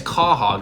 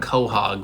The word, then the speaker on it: quahog: Yeah, it's quahog, not quahog, which that's how they say it on American Dad.